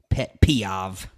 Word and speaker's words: pet peeve: Pet peeve. Pet peeve. Rhymes with chicken Kiev.